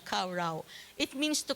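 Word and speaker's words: קָרָא: Yung call po in Hebrew is kara o kauraw. Kauraw. No, yan ang pronunciation niya, kauraw.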